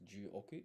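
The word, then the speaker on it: 十億: So, a billion would be pronounced ju oku in Japanese.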